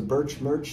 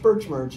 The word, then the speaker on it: Bertsch: So it's BERTSCH, but it's pronounced just like Birch Sheet Metal.